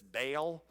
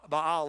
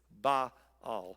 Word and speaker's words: Baal: say Beal but ba Bal is the proper pronunciation it's actually like two syllables it or not it's ba all and I can never